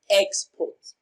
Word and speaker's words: export: Export is pronounced and broken down into syllables as export. Export as a noun receives the stress on its first syllable.